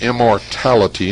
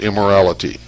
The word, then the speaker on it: immortality: name of the child it's immortality not immorality immortality psyche replied that with